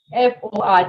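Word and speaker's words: fort: strong we have four f o r t the t will not be pronounced for and for weak we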